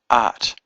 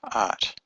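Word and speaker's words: את: But if I say you to a woman, I say art, aleph tav, art.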